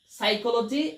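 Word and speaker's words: psychology: তিনটি শব্দ এখ একটি হচ্ছে সাইকোলজি।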